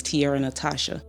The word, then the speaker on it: T'Ara Natizha: sing r b pop it's still me so Tierra Natasha that's how I came up my real name is Tiara Natasha okay I saw it and I was like I don't know how to pronounce that but I like how it looks